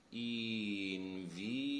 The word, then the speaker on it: invidiar: So, in normal spoken Italian, we tend to say invidiare with this E.